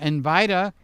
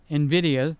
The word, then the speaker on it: Nvidia: Now, uh Invite, Nvidia, the right way to say it.